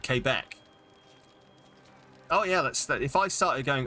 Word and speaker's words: Quebec: Okay, well, literally no one in the UK calls it Quebec. It's called Quebec. Quebec, yeah. That's, yeah. Most people, oh, okay, fair. Quebec, yeah. Fair enough. So this is a local pronunciation versus an everyone else pronunciation then.